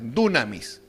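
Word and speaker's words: δύναμις: La palabra poder que aparece ahí en su Biblia, en griego se escribe así, dunami o dunamis con y ss final, dunamis.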